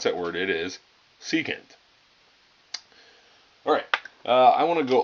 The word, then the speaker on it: secant: secant okay so if you're wondering how to pronounce that word it is secant alright I want to go over let's go